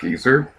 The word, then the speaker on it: geyser: Because something funny that's really funny in that game is that apparently in England, geyser is pronounced like geezer.